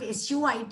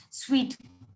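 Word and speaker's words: suite: Marketplace we generally the the good pronunciation of suit is sweet not Su I believe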